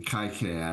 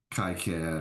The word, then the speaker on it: KiCad: This is from KiCad. I used KiCad or KiCad, however you want to pronounce it.